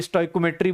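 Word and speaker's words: stoichiometry: Okay चल बेटा, ये देख स्टोइशियोमेट्री, इसको प्रोनाउंस करने का अलग अलग तरीका है, कोई स्टोइकोमेट्री बोलता है, कोई अलग अलग तरीके से बोलता है।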